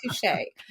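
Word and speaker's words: touché: I taught her how to pronounce touche. She really liked saying touche. And she would say touch. And I finally was like, okay, it's like two, the number, and then shea, like shea butter.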